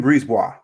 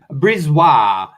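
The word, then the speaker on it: BriseBois: chicago blackhawks and pooh bear can you uh pronounce the gm again julian julian brisbois brizwa this guy is savvy man i was a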